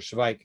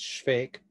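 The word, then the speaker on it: Švejk: call the good soldier spike giving up the german spelling and pronunciation but in um uh yeah in um uh in check it's fake uh it's a shake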